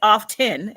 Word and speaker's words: often: an F come on often and everybody's call it says off 10 and the t is silent are you sure I'm